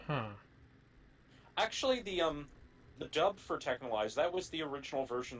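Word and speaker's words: Texhnolyze: Is that how you say it? Technolize? Yes, Technolize. I always thought it was like Texnolize or something. No, it's Technolize. They say at the beginning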